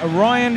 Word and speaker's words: Rhyan: You know, Ryan Short. Well, it's quite a unique way of spelling, but it's still pronounced the same.